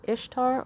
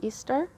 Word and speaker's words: Ishtar: for this week here you can pronounce that name ishtar or easter ishtar i say ishtar more often than easter um ishtar's lions gate